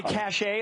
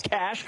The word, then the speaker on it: cache: Wisconsin's got cash cash i would say cachet as we said in the military in iraq we found a weapons cache yet but it is cash now well done sir are